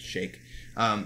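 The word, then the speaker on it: Shaikh: But he refers, a lot of them have the title of Sheikh in front of them, or Sheikh. It's pronounced S-H, or it's spelled S-H-A-I-K-H, so I pronounce it Sheikh.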